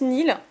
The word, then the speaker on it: Niel: Qui se prononce Nil.